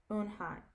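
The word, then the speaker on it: Unhei: she nodded slowly yes it's pronounced oon hi and it means grace mr kim added you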